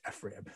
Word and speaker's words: FRIB: So what we do in that laboratory, the Facility for Rare Isotope Beams, or FRIB, I know it looks like FRIB. It's pronounced FRIB. You just have to trust me on this one.